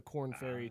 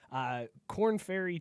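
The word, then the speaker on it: Korn Ferry: that I was like wait corn like tab and it does it's spelled like corn like the band you right now but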